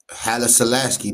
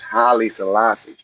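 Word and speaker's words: Haile Selassie: We're going to do we're going to pronounce things correctly. It's Holly Salassi.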